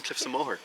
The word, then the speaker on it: Cliffs of Moher: Us so what is the correct way to pronounce Cliffs of Mo mooh is yeah it's pretty spot on Cliffs of mooh cff of okay so yeah don't yeah you